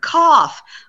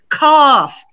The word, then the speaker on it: cough: sound it's not uh look at the gh in the first word cough cough you hear that final f that gh sounds like an f but in the word